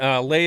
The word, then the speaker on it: Leigh: And Lay is spelled for everybody. It's Leigh. Check him out. We really appreciate you joining us for Deer Talk Now today. Oh, Lay.